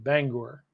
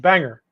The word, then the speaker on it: Bangor: not bad Roger said it's pronounced Bangor there you go Bangor okay I don't know how I said it Banger it's Bangor roll Tai said must